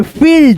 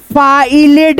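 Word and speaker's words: field: Double E का उच्चारण यानी बड़ी ई से करेंगे। जैसे यहां पे फील्ड एफ आई ई एल डी फाइलेड नहीं पढ़ेंगे।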